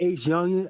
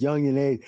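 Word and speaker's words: YounginAce: My bad, I said it wrong. Yeah, Youngin Ace. I always call him Ace Youngin. I always call him Ace Youngin and shit. It's Youngin Ace.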